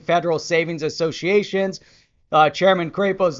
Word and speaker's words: Crapo: here is what senator mike crappo crapo sorry butchered it is is asserting that